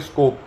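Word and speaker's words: Skopje: तो आप क्या बताओगे स्कोप ठीक है स्कोप या कई लोग स्कोप ज बोल देते हैं इसको हालांकि जे साइलेंट रहता है तो स्कोप बोल सकते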